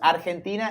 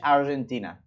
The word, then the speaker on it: Argentina: You pronounce it in Spanish, you pronounce Argentina, in English, Argentina.